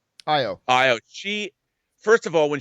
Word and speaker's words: Ayo: plays uh you know i say ayo but i think that's a mispronunciation of the characters name but io she first of all